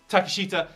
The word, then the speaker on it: Takeshita: Konosuke Takeshita, I've totally mispronounced his name. Takeshita came over, the former KOD openweight champion.